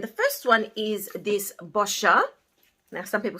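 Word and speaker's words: Boscia: first one is this boscher now some people say bosquia but it's bosha if you pronounce it with an italian accent and this is a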